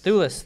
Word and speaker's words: Thewlis: David Thewlis. Thewlis, there we go.